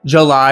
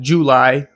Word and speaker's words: July: likewise for uh July, people will say Ju-ly instead of July like it has an a sound in it, not a u, but whatever, that's just how English speakers talk. July is the proper pronunciation.